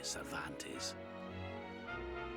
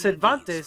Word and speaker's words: Cervantes: You couldn't open It's the sea Cervantes, gates for me, could like you? the, you know, author Miguel de Cervantes. But it's spelled with an S, like servant.